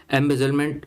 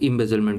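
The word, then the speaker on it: embezzlement: इम्बेजलमेंट का या एम्बेजलमेंट, आप जैसे भी प्रोनाउंस करो, एम्बेजलमेंट जनरली बोला जाता है, कई लोग इम्बेजलमेंट भी प्रयोग करते हैं।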